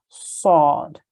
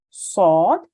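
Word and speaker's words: صاد: It's pronounced, or this letter has the same articulation point as the letter Sin, but the top of the tongue is raised to the roof of the mouth to make it a heavy and thick sounding letter.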